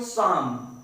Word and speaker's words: psalm: आप देख रहे हैं स्पेलिंग है PSALM, इसमें P और L ये दोनों साइलेंट हैं, इनका उच्चारण नहीं किया जाएगा, इनकी ध्वनि नहीं निकाली जाएगी, तो बचेगा SAM साम।